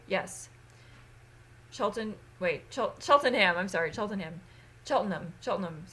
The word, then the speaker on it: Cheltenham: I think I'll be staying in Cheltenberg. Yes. Cheltenham.